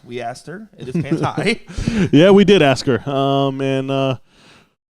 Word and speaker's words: Panti: We did get a comment in here saying it's pronounced Panty. It is not. We asked her. It is Panti.